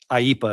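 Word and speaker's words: IEEPA: put in under it's it's IPA is how they pronounce it, but it's the International Emergency Economic Powers Act of 1977.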